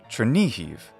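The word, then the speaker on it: Chernihiv: chair becomes chair or chair ni is like knee the leg joint and who is like heave trinihive I hope you found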